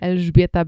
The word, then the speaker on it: Elżbieta: Elżbieta Becz.